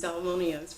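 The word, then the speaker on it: Salmoneus: Oh yes, I made myself learn to pronounce it Salmonius because that becomes a rolling joke.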